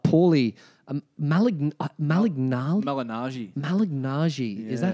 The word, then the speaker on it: Malignaggi: Malignaggi. Malignaggi. Yeah. Is that how you pronounce Malignaggi, his last name?